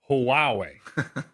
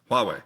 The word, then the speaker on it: Huawei: Huawei. Close. Huawei.